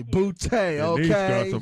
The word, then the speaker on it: Boutte: I appreciate it because I get everything bow, boot. I think a lot of times people are trying not to offend me, and so that's why they pronounce it that way. And I'm like, you know what? It's the bougie way of saying booty.